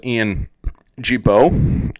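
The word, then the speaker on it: Gibaut: the needle uh one interesting guy though is Ian Jibo that's spelled g-i-b-a-u-t uh he just picked up a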